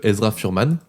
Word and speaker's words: Ezra Furman: Je recommander le travail de Ezra Furman. Donc E Z R A Furman R M A N. Voilà comme ça se prononce quoi.